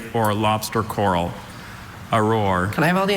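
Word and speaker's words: aurore: Auror. Auror. That's the only pronunciation, right?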